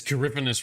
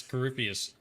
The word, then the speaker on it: Corypheus: I love how she says Coryphanus wrong. She can't pronounce Corypheus.